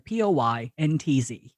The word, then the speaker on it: Poyntz: So initially, it's the same pronunciation, but it was initially spelled Pointz. Nice Irish name. And she renamed it to Poyntz.